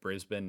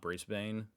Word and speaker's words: Brisbane: I think it's because someone the other day told me it's brisban not Brisbane and I knew that